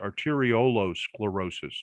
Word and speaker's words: arteriolosclerosis: up with this term brain arteriosclerosis arteriolo sclerosis to pronounce it correctly and she looked at